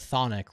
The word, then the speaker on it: chthonic: now that you know that thonic rhymes with Nick you also know it